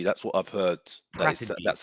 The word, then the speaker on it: Paratici: How do you pronounce his name? Paratici. Paratici. That's what I've heard. Paratici.